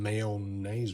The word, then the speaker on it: mayonnaise: considering it's in oil definitely lick me some male names with that anybody from New Orleans yes I know that's the way you pronounce mayonnaise I've done some time